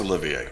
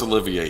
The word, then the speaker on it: Olivier: Laurence Olivier. Okay. Yeah. They rhyme with each other. Okay. Laurence Olivier.